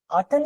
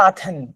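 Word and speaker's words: Athen: के सिटीज जेविला आतन आतन या आथन आतन because T एच एच is silent in द middle A1 में पढ़ी थी ये बात एच इन द middle is सो you will read it आन लाइक टटर इसको टटर पढ़ना है टियाटर नहीं पढ़ना थ नहीं पढ़ना है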